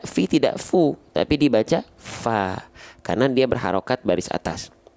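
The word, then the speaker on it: ف: Tapi huruf fa dilafalkan tidak menjadi fo, tapi tetap fa, maka dia huruf yang tipis.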